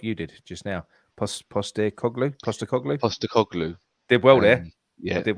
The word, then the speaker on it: Postecoglou: I'm going to try and pronounce it like you did just now. Postecoglou.